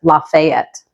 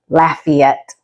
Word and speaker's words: Lafayette: what do you think might seem straightforward and easy to pronounce as lafette but it is actually Lafayette so Lafayette is the